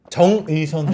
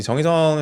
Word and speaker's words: 정의선: 우리 정의선 회장님께서 백악관으로 직접 가서 31조 4년간 투자하겠다 밝혔습니다. 굉장히 뭐 예 트럼프 대통령도 굉장히 반기고 뭐 화답을 의선 정의라고 안 하고 정의선이라고 똑바로 발음도 해 주고 자동차주 흐름 어떻게 볼까요?